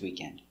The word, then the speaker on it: weekend: When you have ND and there's nothing after, the D is silent.